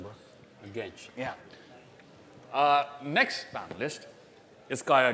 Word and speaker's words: Genç: Okay, how do you pronounce the last name, bro? Genç.